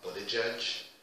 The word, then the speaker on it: Buttigieg: We have also a presidential candidate, affectionately referred to as Mayor Pete, because his last name is a bitch to pronounce. I believe it's Buttigieg, and I'm only going to say it one time, that's it.